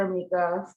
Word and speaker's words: Emeka: organization okay um sorry my name is amica um it's pronounced as an accent but it's a matter